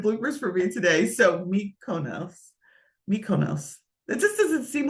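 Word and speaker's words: Mykonos: these three popular places uh mikonis I always have a hard time Miko micus I always have a hard time like I need a phonetic pronunciation of that mikonis I think it is and I don't think I'm pronouncing that right but those are the three top places to go but what if you did the flip side of that mikonos thank you Maria M me Mos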